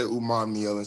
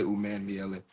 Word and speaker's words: Umanmielen: People pronounce the A in there differently. Some people say Umanmielen, some people say Umanmielen. That A that's fine.